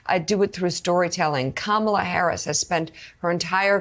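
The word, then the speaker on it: Kamala: okay so listen they know her name is kamla uh and I think that um Joe and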